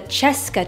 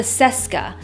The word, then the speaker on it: Cesca: So I don't know this for certain, but I think that this chair is actually pronounced the Cheska chair and not the Seska, which is how everyone pronounces it now.